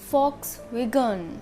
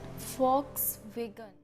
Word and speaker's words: Volkswagen: No, here we will be spelled as F because it's a German name, so it will pronounce as Volkswagen. Volkswagen.